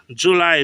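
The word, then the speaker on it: Juley: This time this July is spelled with E.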